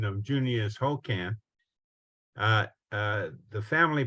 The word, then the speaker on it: Junius: I wasn't gonna say anything, but seeing as you invited me to speak, one little error that you're making in the pronunciation of Junius Hokan.